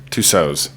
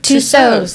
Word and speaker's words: Tussauds: Tussauds. Tussauds.